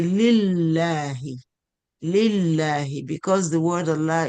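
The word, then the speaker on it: لله: So we say lillahi, lillahi, because the word Allah is preceded by kasra.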